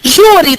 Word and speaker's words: júri: Júri tem acento? Dá vontade de dizer que júri não tem acento. Mas júri tem acento. Qual é a sílaba tônica? Ju.